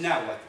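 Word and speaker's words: Nahuatl: sí que era el nahat palabra que se escribe nahat terminada en tele pero se omite la pronunciación de la l final y por supuesto en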